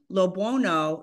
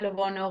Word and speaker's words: LoBuono: yeah yeah my name another way to say it too leono but but you did great I go by a lot of different pronunciations all good I one